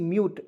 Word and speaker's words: mute: पे देखिए MUT म्यूट, M से म, और U का उच्चारण U और T से ट होता है म्यूट। आधा म यूट लिखेंगे तो M से आधा म लिखेंगे UTE, कुछ का उच्चारण होता है यूट के रूप में, म्यूट हो जाएगा।